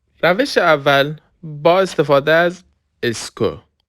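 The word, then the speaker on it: est-ce que: روش اول با استفاده از اسکو. اسکو. به تلفظش دقت کنید. ببینید این همش تلفظش اس میشه. این این هم سه اسکو.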